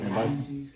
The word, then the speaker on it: Cambyses: pretty cool because it says when your boy Cambyses, what do you pronounce that? Cambyses.